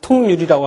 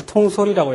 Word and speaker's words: 통솔: 자, 원래가 이게 뭐였습니까? 비율율자죠. 그래서 통율이라고 하면 안 되고 여기서는 통솔이라고 해야 되죠.